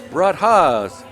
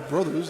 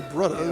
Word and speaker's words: Brudhas: first finalists, the 3 Brudhas. That's the pronunciation we're going to go with there, as they have a bit of a connotation, you'll say, as opposed to just 3 brothers. It's the 3 Brudhas.